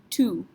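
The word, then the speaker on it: tout: The next one, T-O-U-T. Nope, we don't say this. T is not a C, R, F, or L, so we just pronounce this tu.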